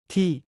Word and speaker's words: ที่: ที่ Pronounced like T but shorter, this is your everyday hero.